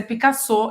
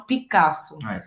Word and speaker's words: Picasso: só que vai ser Picasso e não Picasso. Picasso com sotaque francês, ok?